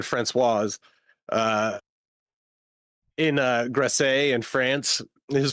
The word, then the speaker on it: Françoise: I don't know how the female pronunciation of that is. François. François. There you go. Francois and Françoise.